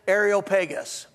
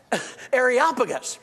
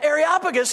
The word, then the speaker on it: Areopagus: one day in church Chuck swindoll's associate Minister pronounced it arop pegus no no no it's areopagus and areopagus is the Mars Hill this is where Paul